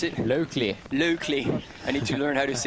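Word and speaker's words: Laukli: This is American Sophia, how do you pronounce it? Locally.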